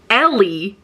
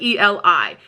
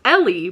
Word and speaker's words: Eli: They call him Ellie, short for Ellis, but they spell it E-L-I. And I'm like, that doesn't read well, because I constantly was calling him Eli, but I have to remember it's Ellie because it's supposed to